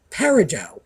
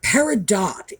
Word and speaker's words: peridot: And by the way, there are two pronunciations for that. I was taught peridot, which I assume is the French, but peridot is also perfectly acceptable, and August birthstone, but also, let's see, let's try this one.